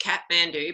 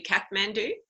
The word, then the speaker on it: Kathmandu: that so I guess I've been pronouncing it wrong forever because of the adventure store calling it Kathmandu but it's obviously Kathmandu do you men do